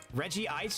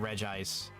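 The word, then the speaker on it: Regice: I still stand on business and I say dude that um uh Reggie Ice is Reggie Ice and not Reg Ice cuz in the older movies they pronounce it Reggie Ice.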